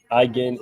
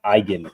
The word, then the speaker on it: Eigen: The German word Eigen is pronounced as the I. The I is pronounced like the English word I. The G is a hard G sound, similar to the G in go. The EN at the end is pronounced softly, almost like a nasal sound.